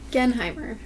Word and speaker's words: Genheimer: Genheimr. Genheimr. And uh we'll have her spell that for us.